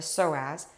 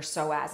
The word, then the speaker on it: psoas: you learn about your soaz and soaz is spelled PS O A all right so I'm